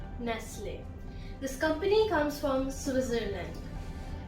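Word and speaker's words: Nestlé: So the British pronunciation is closer to the French pronunciation. Croissant. The next word is Nestle. Nestle. Not Nestle, Nestle.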